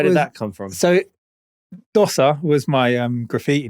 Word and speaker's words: Dosa: It's spelt like the Indian pancakes, which are pronounced Dosa.